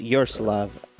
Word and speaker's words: Yaroslav: It's Yaroslav. Oh, Yaroslav. Yaroslav.